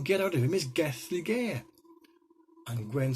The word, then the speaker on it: Gelligaer: Alright, this is how you spell it. Gethligaer, Gelligaer, Roman Fort.